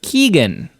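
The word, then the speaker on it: Keoghan: So Barry Keegan, I believe is the pronunciation.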